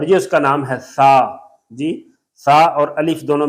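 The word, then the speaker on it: ثا: یہ شکل ہے اور یہ اس کا نام ہے سا. جی سا اور الف دونوں ملا کے سا. جی سا پلس الف سا. زبر ہے, زبر میں منہ کھلتا ہے سا سا سا.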